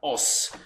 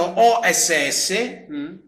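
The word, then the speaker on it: 押忍: fa sempre discutere è la parola che viene pronunciata os tanti la scrivono o ss trovare iscrittosi e niente è la pronuncia è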